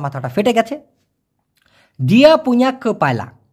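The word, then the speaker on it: kepala: দিয়া পুঁয়া ক পায়লা, আমি আবার বলতেছি ক পায়লা, অনেকে বলে কপলা কপালা, ভাই ভুল উচ্চারণ ওটা।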